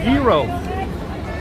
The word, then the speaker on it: gyros: got an imaginary number Gyros guys the pronunciation is hero hey girl you're playing